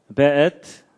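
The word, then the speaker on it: וְאֵת: 그 다음에 앳, 하샤마임, 베엣. 요게 이제 W인데도 이게 독일식 발음을 해서 베 이렇게 읽는다고 합니다.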